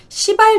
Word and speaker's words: 시발: 1955년 시발 자동차. 네, 발음을 잘해야 됩니다.